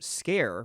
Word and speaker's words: Sker: game called made of scare I actually looked it up um it's pronounced scare which kind of adds